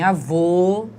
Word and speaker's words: avô: lá avó E então em avó o som é aberto entretanto em avô o som é fechado certo então só para